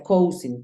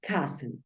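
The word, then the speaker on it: cousin: palabra neutra coing cing no se pronuncia igual como se escribe se pronuncia Ken Ken Así es como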